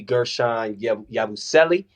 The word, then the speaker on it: Guerschon Yabusele: 30 MVP we got the one and only Gershon yabuselli I said that right right yeah you said